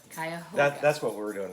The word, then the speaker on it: Cuyahoga: and we kept, it's spelled similar, and we kept wanting to call that Cuyahoga National Park, but it's Cuyahoga. Cuyahoga.